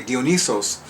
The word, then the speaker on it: Dionysos: Well, clearly, I've also come to realize that I'm going to pronounce it the Greek way, Dionysos enjoys being in my body.